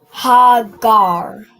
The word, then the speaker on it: Hagar: Not gra but gar right when you join it ga and a ra it becomes gar right. So how would you pronounce this full this full phrase? Mommy. So you have this last part is gar and the first part is what? Hagar. Hagar. Perfect. All right. You pronounce this as hagar.